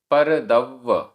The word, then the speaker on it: दव्व: वेरग्ग, वेरग्ग आधा ग पूरा ग, वेरग्ग परो, वेरग्ग परो, साहू, साहू, पर दव्व आधा व पूरा व, पर दव्व, पर दव्व, परम मोहो